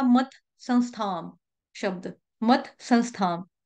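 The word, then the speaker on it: संस्थाम्: ने लिया था मत संस्थाम शब्द, मत संस्थाम, या इसको संस्कृत में हम संस्थाम पढ़ेंगे, क्योंकि जो बिंदी है उसका उच्चारण के बाद स आ रहा है, तो संस पढ़ेंगे, संस्थाम।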